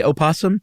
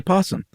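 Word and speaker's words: opossum: And, you know, you can use either one. You can say opasum, you can say possum.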